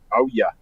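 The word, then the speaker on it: Ouya: O-U-Y-A. I think that's how you pronounce it. Oh yeah.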